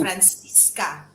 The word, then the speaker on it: Francissca: me the name actually it's francisca francisca because there cis so you emphasize on francisca uh it sounds spanish but on one hand it's pronounced francisca you know italian almost um but uh yeah it